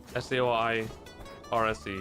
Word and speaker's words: Saoirse: S-A-O-I-R-S-E, yeah. How do you pronounce that one?